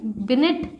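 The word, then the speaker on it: Binet: English में इसकी spelling बिनेट ऐसे लिखी जाएगी, लेकिन बोलते हम बिने ही हैं।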